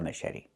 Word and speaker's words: machete: The ch makes a soft sh sound like in fish. Mh. And then eddie. The t makes a fast d.